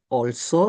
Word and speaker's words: also: También ahí hay una palabra nueva, se escribe also, olso se pronuncia.